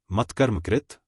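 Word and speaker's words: मत्कर्मकृत्: उच्चारण की विधि मत्कर्मकृत मत्परमः मद्भक्तः संगवर्जितः निर्वैरः सर्वभूतेषु यः स माम एति पांडव।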